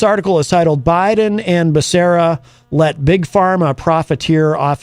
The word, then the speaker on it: Becerra: It says here, in the summer of 2020, then California Attorney General Xavier Becerra, or I've heard it pronounced three different ways. I'm going to go with Becerra, demanded the Trump administration